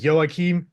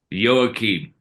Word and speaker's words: Joachim: because I was proud practicing the Hebrew pronunciation is it yoim yoim yeah I think so listen to be